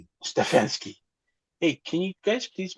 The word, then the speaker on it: Stefanski: Uh Stephski and then like Kevin Stefansky. Stefanski.